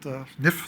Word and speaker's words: NIHF: I'd like to thank the National Inventors Hall of Fame, which I learned today as a pronunciation, NIF. That's new to me, but NIF, thank you.